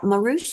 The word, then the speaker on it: Marus: o' Conor okay uh marus is that how you pronounced your last name that is correct okay thank you and